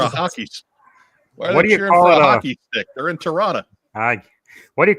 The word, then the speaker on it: Toronto: They're in Toronto. What do you call it when Chewbacca makes an error? A Wookiee mistake. And Mike, I appreciate the effort, the dropping of the final T. Toronto.